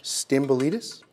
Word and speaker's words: Stamboulidis: Stamboulidis?